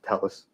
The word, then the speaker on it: Telles: o b r t last name t es also pronounced Talis oh now he's going